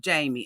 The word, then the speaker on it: Jeymi: I just think that it's pronounced Jeymi.